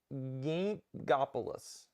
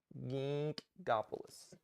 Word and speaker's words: Ginkgopolis: i can pronounce it gingopoulos ginkgopolis i don't know how do you say it god bless no you didn't pronounce the g yes i did it's soft yeah backwards ginkopoulos ginkopoulos